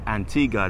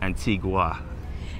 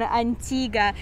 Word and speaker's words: Antigua: you notice we said Antigua not Antigua there this is the local pronunciation Antigua and some may argue and say Antigua as in a Spanish